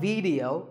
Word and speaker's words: video: watching right now video the important thing is that both the AI and the e are pronounced as short if sounds it's not video it's video if you watch a video